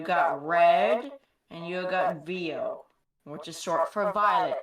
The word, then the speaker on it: Vio: Well, I call him Vio, but some people call him Vio because Vio for Violet, but I think Vio sounds cooler, so it's whatever. It's V-I-O. Pronounce it how you please.